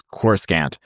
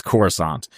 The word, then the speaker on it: Coruscant: You know, it's like uh it's like when we and I were like coming up and it was Corsant and and now it's Coruscant.